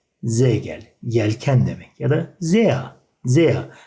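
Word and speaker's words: sehr: Ya da zea. Zea. R sonunda olunca A şeklinde yuvarlanıyor arkadaşlar.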